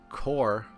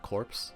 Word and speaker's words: corps: Though the Imperial Force employed a core of newly developed tanks. Is that pronounced? I think that's pronounced core and not corpse.